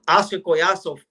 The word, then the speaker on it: Oscar Collazo: And we'll give the correct pronunciation correct pronunciation. Oscar Coyaso, right?